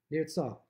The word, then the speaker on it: נרצה: final point, which is Nirtzah, which very interestingly, the Nirtzah itself, that final simon, the final mark in the Seder night, is Nirtzah. The last letter of Nirtzah is a silent Hey. Nirtzah, it could be technically